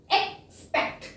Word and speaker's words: expect: ਨੈਕਸਟ ਇਜ਼ third ਇਜ਼ EXPECT, ਹੁਣ ਇਹਨੂੰ ਆਪਾਂ ਅਕ ਨਹੀਂ ਪੜਾਂਗੇ, ਇਹਨੂੰ एक्स ही पढ़ांगे। Pronunciation इज एक्सपेक्ट, ठीक है।